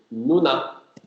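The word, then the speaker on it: 누나: And the first syllable is nu and u. So nu, nu. So nu. And the next one is nu and a. Nu a. So, nu a. So it is nuna.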